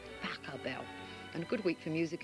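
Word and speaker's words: Pachelbel: know is canon indeed by pashabol but they say i've got to pronounce pakka bell and good week for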